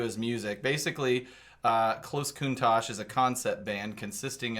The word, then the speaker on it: Countach: suppose than a thanks at close is it pronounced Countach yeah I like the car yeah what's I've never heard of this Kunta Lamborghini Countach the oh the car that everyone